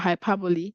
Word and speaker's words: hyperbole: this cute song about hyperbole I played in class just to emphasize on the pronunciation not hyper but Hyperbole and the song was